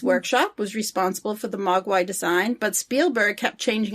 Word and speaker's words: mogwai: could identify with them in cantonese magua means devil demon or gremlin the mandarin pronunciation is mogwai there was no cgi